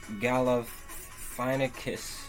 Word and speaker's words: Galifianakis: So the movie begins with Zach Galifianakis, that's how you pronounce it, giving the guinea pigs their next